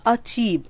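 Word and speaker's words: achieve: alternative absence accept अगला अचीव आपने देखा हर जगह जो ए होता है वो ए के बजाय अ बोला जाता है अचीवमेंट अचीवमेंट उपलब्धियां कोई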